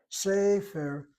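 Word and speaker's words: ספר: And the medial tsere, as in the word sefer, the word for book, notice how I'm saying the word sefer. I'm hitting the first syllable.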